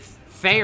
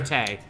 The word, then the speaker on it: Thay: Is it Thay or Tay? They. It's Thay. they.